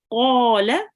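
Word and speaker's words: قال: Qala rabbu. Qala rabbi. Make sure to round your mouth when you say qa, and make sure the qaf comes from your throat. Qala, Qala.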